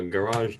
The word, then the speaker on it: garage: A garage door? No, garage. It's not Garage from- sounds dumb. Yeah. Pronounce it more of Garage. garage. Yeah, there you go.